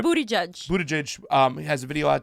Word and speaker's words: Buttigieg: Buttigieg, I say his name wrong. Everybody Buttigieg. says his name wrong. It's Right. Booty Judge.